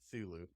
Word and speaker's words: Cthulhu: It's a harder C and then a softer T and H, almost as if your lips and tongue are maybe not altogether solid.